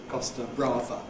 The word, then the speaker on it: Costa Brava: Chaz and Dave sing how they would rather be on the Costa Brava than wherever they are. So there you've got rather rhyming with Costa Brava, pronounced in English as Costa Brava.